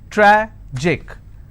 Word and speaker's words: tragic: pronounced at panic tragic tragic I will stress on track Magic I will stress